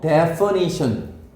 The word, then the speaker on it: definition: 얘는 정의 자 발음이 어떻게 다르다고? 얘는 뭐 define 얘는 뭐 definition define definition define definition define definition define definition